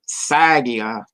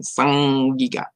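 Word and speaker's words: saĝ-gíg-ga: The cuneiform sign, which looks like a little N, is pronounced as in singing. Say that. So when you see the English word, which somebody would say sagia, it is sang, and that was a very distinct way of pronunciation.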